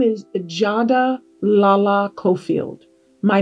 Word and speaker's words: Jada: It is masculine, and it is pronounced Jada.